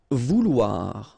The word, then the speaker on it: vouloir: Vouloir, okay, OU, OU, and then OI, OA, so vouloir, okay.